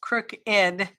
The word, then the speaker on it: crooked: We always, everyone I know pronounces it crooked. Crooked. And it's ED, crooked.